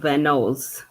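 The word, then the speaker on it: Van Nuys: He pronounces it um oh van knows Paul Arthur on the flight a USA and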